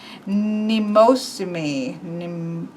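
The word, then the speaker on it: Mnemosyne: And so this is pronounced Nemosimi.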